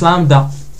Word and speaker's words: lambda: prononce cap pas donc lambda populaire auss aussi donc lambda comme ça et en majuscule c'est un V inversé oui mais ça se prononce lambda mu c'est comme ça